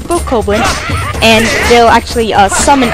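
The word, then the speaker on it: Bokoblin: it's a it's a coblin and i realized i pronounced the name wrong couple episodes ago but it's a book copeland and they'll actually uh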